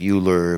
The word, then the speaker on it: Euler: It looks like Euler, but it's pronounced Euler.